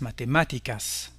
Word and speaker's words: matemáticas: Tous les mots espagnols qui se terminent par ico ou ica, la forme féminine, ont leur accent sur la syllabe antépénultième, à savoir l'avant-avant-dernière syllabe, las matemáticas.